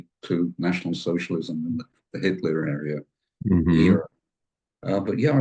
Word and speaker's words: est: It's the cognate with the Latin est, which then became in Italian e, and in French written the same but pronounced e.